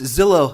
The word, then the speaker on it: Zillow: I know after all it rhymes with pillow yes that's right Julie